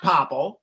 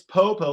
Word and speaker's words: Popo: hi mr popple and it's not popple it's popo like edgar allan poe took a pill so anyway thank you